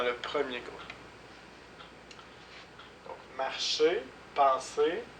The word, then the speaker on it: penser: marcher donc on ne prononce pas le R penser on ne prononce pas le r manger on ne prononce